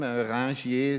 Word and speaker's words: Ringier: Originally, it's a French name, Ringier, so Ringier. Yes. Okay. So, but Ringier is okay in English.